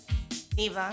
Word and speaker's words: Niva: We have, the pronunciation of the last name is NIVA. NIVA. I don't want to say Nivo or Niv something and it spoil the name and you walk out.